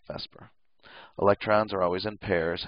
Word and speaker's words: VSEPR: yes I called it Vesper which sounds like it's Vesper but it's spelled vper whatever but it's always pronounced Vesper electrons are always in